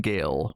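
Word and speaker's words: Gaal: uh named gael uh is spelled g-a-a-l but for the most part it sounded like they were saying gail when they were saying it so uh she's coming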